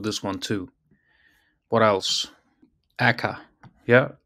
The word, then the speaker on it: aka: Aka. Yeah, she should pronounce this AKA. Some of them pronounces this AKA, some just pronounce it Aka.